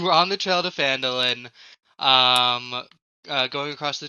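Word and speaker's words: Phandalin: um guys guess what I learned how to pronounce it it's Falin I was right um um it's you were on the trail to Falin um uh going across the trior trail in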